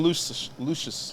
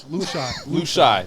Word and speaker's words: Lushai: Arsm Lucius. Lushai. That's Lushai.